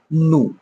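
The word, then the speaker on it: know: কে এন ও ডব্লিউ এটাকে আমরা কি পড়ি নু কে এন আই এফ ই আমরা কি পড়ি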